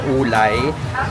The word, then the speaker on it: Wulai: Ang pronunciation talaga kasi niya ulay pero ang spelling niya isay.